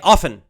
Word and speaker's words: often: sound in the word so well normal people will just say often and they'll drop the T sound because it's faster